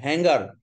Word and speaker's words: হ্যাঙ্গার: আচ্ছা হ্যাঙ্গার, এটা হাঙ্গার না, হাঙ্গার অর্থ ক্ষুধা, আর এটা হ্যাঙ্গার অর্থ হচ্ছে ঝোলায় যে ঝুলানোর যন্ত্র, আর HUNGER ওই হাঙ্গার হচ্ছে ক্ষুধা।